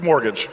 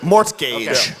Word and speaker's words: mortgage: the way it looks it doesn't look like it should be pronounced mortgage it doesn't look like that but that's mortgage mortgage wait is this not